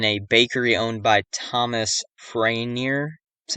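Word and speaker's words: Farriner: The fire started in a bakery owned by Thomas Franier. That's how you pronounce it.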